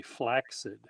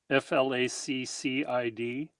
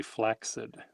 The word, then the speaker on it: flaccid: It the word the word is pronounced actually flaxid with an X sounding. F L A C C I D. The the two C's create an X sound. So, it's not flaccid. It's actually flaxid.